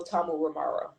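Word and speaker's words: Tamuramaro: no Tamu Ramaro.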